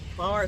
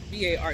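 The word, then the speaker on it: barre: B A R E. See? So, it's like bari, but it's pronounced bar, right?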